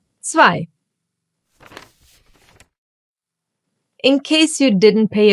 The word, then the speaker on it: zwei: Zwei. Zwei. The German Z is called Z because you read it as an ts. Like in cats or tsunami or pizza.